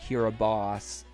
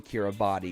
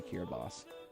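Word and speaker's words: Kiribati: make it clear that the first stop London Kira boss the the tracker actually pronounced it London Kira a body even though it's actually kiraboss but east said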